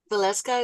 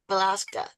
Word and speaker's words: Valeska: Think of it as Alaska with a V. That's how she taught Valeska, me. Valeska, Yes.